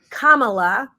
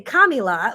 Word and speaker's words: Kamala: didn't say it wrong I now know it's Kamala some people want to say kamila whatever you want to